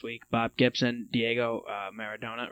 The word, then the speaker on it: Maradona: died this past week bob gibson diego uh maradona right is how you say it yeah okay